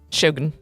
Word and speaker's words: Shogun: Shogun. You got to say it like that. Shogun? Yeah. Okay. That show was great. Because they said it on the show.